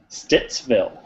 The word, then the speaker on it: Stittsville: pretty standard pronunciation so stittsville it's this build it's this bell now the t's there stits stittsville very good south ottawa